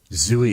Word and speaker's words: Zooey: Zooey, it rhymes with gooey.